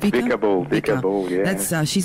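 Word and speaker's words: Vika Bull: Now, I hope I don't pronounce this wrong, but is it Vicar Bull or Vicar Bull? It's Vicar Bull.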